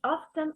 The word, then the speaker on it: often: pronunciation of often it's often often or it's about American English oh you can American English you take away the T American English British English of okay however there is